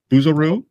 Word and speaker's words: Bouzereau: a very distinguished documentarian here Mr buero buero your pronunciation is is perfect I've you and my